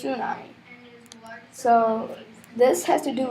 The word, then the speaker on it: tsunami: T tunami I mean tsunami I always get confused how it's pronounced it says tsunami but it's pronounced tsunami so this has to